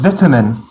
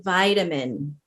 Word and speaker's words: vitamin: three uh vitamin vitamin that's short i in the beginning in the us we would say vitamin vitamin like in vitality or vital we kind of keep that same uh long eye pronunciation and number four privacy